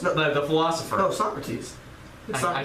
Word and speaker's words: Socrates: Number 11 is Socrates, the gargoyle thinker. Now, this sounds really weird, but it's exactly. I thought you were like talking about like soccer shirts. No, like it's exactly, Socrates.